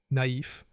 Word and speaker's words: naïf: The tréma has 2 dots above a vowel. It tells you to pronounce vowel sounds separately. Noël, naïf, héroïne. Think of the tréma as a small pronunciation signal. Slow down. Separate the sounds.